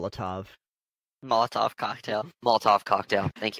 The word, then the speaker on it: Molotov: You find 7 cookies, flight dust, Malhov cocktail. I'm not pronouncing that right. I know I'm not pronouncing that Molotov. Right. Molotov.